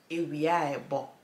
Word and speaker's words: ewiebo: You either say ewia, okay, ebo, okay, ewia ebo, or you would say ewiebo, ewiebo. So you basically just link it in the middle, and that is how you say it is sunny.